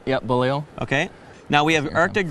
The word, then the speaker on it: Beaulieu: Yep, Beaulieu.